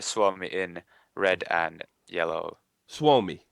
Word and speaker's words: Suomi: Suomi. So that's the correct way to say it.